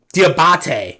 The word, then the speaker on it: Diabate: this up hang on what's how do you pronounce his name it's like dear diabate yeah okay there we go so diabate he